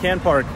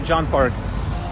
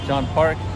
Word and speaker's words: Can Park: Turkish, it looks like Can Park, but it's actually John Park. Although the spelling is literally in English, Can. But that C is like pronounced like a J, as far as I understand Turkish.